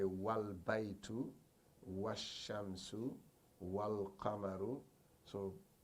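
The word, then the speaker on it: والبيت: Okay, if you have wow here, you can't say wal al baitu. You just say wal baitu. That's what he's trying to say. You can't say wal baitu, wal al baitu.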